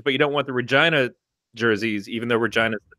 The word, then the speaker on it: Regina: I would take the Regina jerseys all day, but I am worried about the Regina jerseys. people coming and going, oh, Regina. And I'd say, no, Regina. It rhymes with fun.